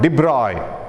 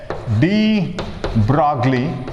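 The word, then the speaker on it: de Broglie: now another scientist called de bruy we pronounce actually it has a de bruy d broglie some people say d broccoli or de bruy he suggested a new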